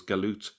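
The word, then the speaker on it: جالوت: written as jalut and it's pronounced in some um Arab countries as jalut but it's still pronounced as galut in places like Egypt um so let's have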